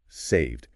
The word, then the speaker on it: saved: And saved. That woman had saved countless lives. Again sounds like d.